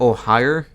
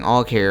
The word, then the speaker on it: Ohio: Did he pronounce that Ohio? I've been saying Oghair. Apparently it's Ohio. I'll try to remember that.